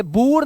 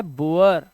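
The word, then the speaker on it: boor: जैसे अगर किसी शब्द में डबल ओ हो, डबल ओ के बाद आर दिया हो, तो यहां पर उसका उच्चारण जो है वो उआ हो जाएगा। क्या हो जाएगा, उआ। अब जैसे ये है, ये बूर नहीं पढ़ना है आपको, ये पढ़ना है बुअर।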